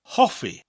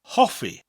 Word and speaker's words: Hoffi: The important word in this lesson is Hoffi, which means to like or liking. Hoffi. Hoffi. What's a good way to remember this word? Well, we can rhyme it. Hoffi rhymes with coffee.